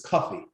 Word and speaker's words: Kofi: boy born on friday it's kofi which phonetically it's pronounced or it becomes anglo-sized as coffee there are hundreds and